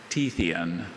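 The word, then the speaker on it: Tethyan: Tethian.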